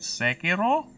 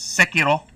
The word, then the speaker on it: Sekiro: I might start with Sekiro. Oh, sorry, I mispronounced it. It's Sekiro. Sekiro. Sekiro. Something like that. It's not racist. I am pronouncing it as the way the culture would say it.